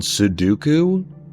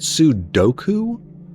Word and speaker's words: Sudoku: Can I get a pronunciation check on Suduku? Isn't it Sudok? Isn't it Sudoku? Doku. Count Doku. Nah, ain't going to happen. Kofs, you suck at sudoku. Yeah, she said it right.